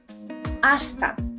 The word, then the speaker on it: hasta: hasta Martez notice that in Spanish you don't pronunciate the H you don't say hashtag you say hasta practice it this